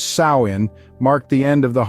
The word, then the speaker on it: Samhain: Halloween we know today Sam Hayne pronounced as sain marked the end of